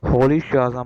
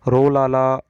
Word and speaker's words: Rolihlahla: जो मतलब प्रोनाउंसिएशन है, अगर अफ्रीकन तरीके से अगर हम देखते हैं तो इसकी प्रोनाउंसिएशन ये बनेगी Nelson होली शाजा Mandela. Okay, Nelson होली शाजा Mandela. और अगर हम वैसे हम नॉर्मल जो इंग्लिश के तरीके से बात करते हैं तो नेल्सन रोलाला मंडेला।